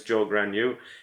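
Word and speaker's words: Zhou Guanyu: Joe Gragnew, if you look at his name, you'd never think the way it's spelled that his name's Joe Gragnew. He is a Chinese Brit. He was born in China, but he grew up in the UK. So he's got a Chinese spelling on his name. And if they didn't tell you how to pronounce his name, there's no way you'd ever figure it out, unless, of course, you're Chinese.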